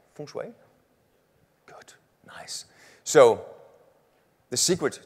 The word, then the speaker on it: feng shui: feng shui right did i say it right feng shui good nice so the secret to this is